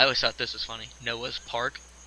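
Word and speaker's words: Noah's Park: thought this was funny Noah's part kind of like Noah's Arc rhymes with Noah's Arc okay moving on of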